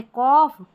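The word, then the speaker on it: cough: अब देखिए GH कहीं कहीं पर जो है फ की ध्वनि देते हैं, जैसे कि लाफ, यहाँ पर है कॉफ, टफ, इनफ और रफ। तो यहाँ इन सारे स्पेलिंग में देखिए GH आ रहा है ना, याद कर ले इनको, इसको हमको फ पढ़ना है, ठीक है, फ पढ़ना है।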